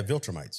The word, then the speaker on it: Viltrumite: Yeah, Viltrumite.